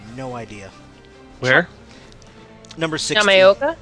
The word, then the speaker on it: Yamaoka: Akira Yamaoka? I have no idea. Where? Number 16. Yamaoka? Is that how you say it? Yeah. Yamaoka.